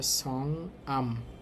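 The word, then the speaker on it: 성함: তো এই শব্দটার এখানে দেখেন ইয়ং আছে, ইয়ংয়ের পর হিউত আছে, তাহলে এটার উচ্চারণ হবে সং আম, সং আম।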